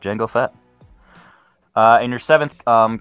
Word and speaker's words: Jango Fett: django unchained and brandon the d is silent jango fett it's so silent you didn't write it that is correct jango fett uh and your seventh